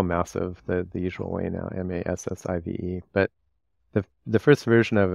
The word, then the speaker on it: MASVF: We spell massive the usual way now, M-A-S-S-I-V-E. But the first version of it was M-A-S-V-F. And that's kind of pronounced massive too.